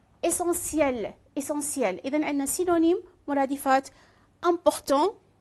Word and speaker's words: essentiel: ألاحظ هنا essentiel هنا TIEL لفظ ça prononce C. TIE le prononce C. essentiel.